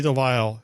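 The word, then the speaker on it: Grey DeLisle: then we also have um gray can never pronounce her last name delissel or delisle delisle okay gray de lyle who was the voice of rc in the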